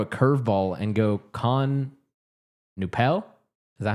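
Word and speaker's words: Knueppel: No, I think it's the K is- Knuppel. There's no swear. way it's pronounced Bro, like every that. time I would watch the game, that's how they would pronounce anytime Duke I feel was like playing. the K would be silent.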